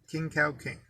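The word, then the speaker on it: Khing Kang King: rare but look it up libra 21 the king cow king i'll spell that for you k h i n g k a n g k ing king cow king so there gang hee fat joy and hopefully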